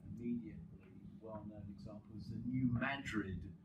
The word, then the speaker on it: New Madrid: The most probably immediately well-known example is the New Madrid. That's the correct American pronunciation, by the way. Madrid, not Madrid. But anyway, it's a place in central United States, Missouri or something like that.